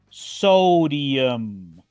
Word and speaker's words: sodium: una I genius genio sodium en este caso la i se pronuncia como una doble I y la u si se pronuncia genius sodium sigamos ahora